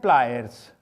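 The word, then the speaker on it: pliers: तो ये एग्जैक्ट इसकी प्रोनाउंसिएशन है प्लायर्स, इसके साथ भी एस लगेगा, ये बाइपेटाइट है। तो प्लास की एग्जैक्ट इंग्लिश है प्लायर्स, प्लायर्स, प्लायर्स, प्लायर्स।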